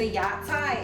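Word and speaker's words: 芽菜: So ya cai is how you say this in Chinese.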